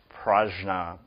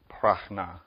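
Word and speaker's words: prajna: r a jna a you'll hear a lot of variations in how to pronounce this word um prna PR prna so there's some disagreement about how that jna a sound is made but commonly it's NY this relates well to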